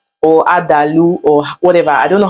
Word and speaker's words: adalu: but they call it I'm not sure I'm going to pronounce it well but it's adalu or adalu or whatever I don't